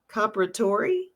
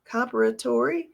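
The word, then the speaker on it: Comperatore: So the gentleman who passed away was Corey Comparatori, I think is how you say his name, Comparatori.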